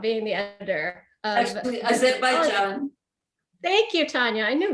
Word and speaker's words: Azerbaijan: Which is the greatest thing about being the editor of Actually, Azerbaijan.